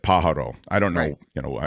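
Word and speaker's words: Pájaro: so you are well the emphasis is on the first syllable that I've heard it said that way in Spanish it would be to be fair it would be Pajaro but but but I think they say it Pajaro I don't know you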